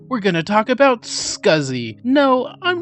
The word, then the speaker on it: SCSI: thus scuzzy was born scuzzy was supposed to be pronounced sexy but dale allen said scuzzy and it's stuck scuzzy stands for small